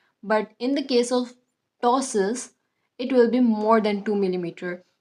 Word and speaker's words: ptosis: tosses. That's how we are going to pronounce this.